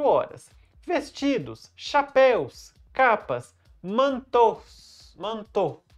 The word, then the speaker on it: manteau: Manteau. Esse finalzinho aí que é AUX no francês pronuncia O. Então, manteau.